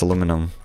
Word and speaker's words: aluminum: I was saying that aluminium is how it's pronounced globally, and it's aluminum for Americans.